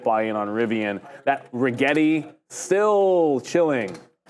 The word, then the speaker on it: Rigetti: That Rigetti still chilling.